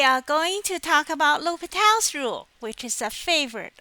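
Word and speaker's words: L'Hôpital: Now today we are going to talk about L'Hopital's rule, which is a favorite among calculus students. We often, in my past, we often call it the hospital rule, but it's actually pronounced L'Hopital, I guess.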